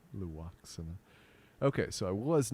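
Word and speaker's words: Lwaxana: Was it not Loxana? Say her name, Loaxana.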